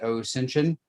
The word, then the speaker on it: OSINTION: Beyond that, I am the founder, principal instructor, and sole content developer for the OSINTION, spelled the OSINT ion, pronounced like Ascension.